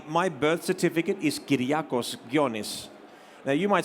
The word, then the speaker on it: Ghionis: an accent above the o to help people pronounce it it's like a tone in Greek gonis and then the motif it's sort of like